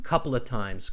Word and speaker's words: couple of times: When we say couple of times, it's such a common phrase that we say it like this: couple of times, couple of times. Couple of times. Yeah, we don't pronounce the F. Couple of times. We completely melt those words together.